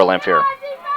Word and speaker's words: Lamphere: By number 34, Lamphere. Almost rhymes with Lantier.